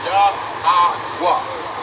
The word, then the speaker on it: Yahweh: Yahweh.